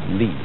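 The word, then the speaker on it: 理: fiber in muscle and it's pronounced lee this is a character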